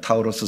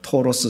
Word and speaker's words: 타우로스: 예, 타우로스 산맥, 토로스 산맥, 타우로스 산맥 이렇게 발음을 하는데 그 산맥을 넘어서 도착한 도시, 그 도시의 이름이 뭐예요?